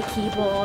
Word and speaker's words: Keble: Keble is actually Keeble and all sorts of things like that.